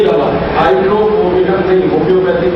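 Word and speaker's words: Hydrophobinum: दवा का नाम है हाइड्रोफोबिनम। मैं स्पेलिंग बोलता हूं, HYDRO, फिर उसके बाद PHO, P for parents, PHO, BI, ये भी वाला BINUM, हाइड्रोफोबिनम, ये दवा है। HYDRO, PHO, BINUM, हाइड्रोफोबिनम।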